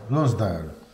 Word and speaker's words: Lonsdale: Come si pronuncia? Come se non so come Lonsdale. Lonsdale. Visto, era giusto. Lonsdale.